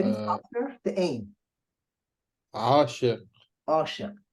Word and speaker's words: عاشق: As if really, you know what, Abdullah, as if you don't have the ዐyn at the beginning. Think about that. There is no ዐyn at the beginning. Okay. Just Asha. It means that one is really not pronounced.